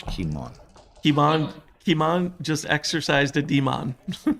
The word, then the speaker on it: Kimon: We've been corrected. It's not Kimon. Yeah. The Greek guys explain that it's Kimon.